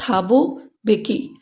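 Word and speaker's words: Thabo Mbeki: साथ first deputy president थाबू बेकी एम का उच्चारण हम नहीं करेंगे थाबू बेकी वास सोन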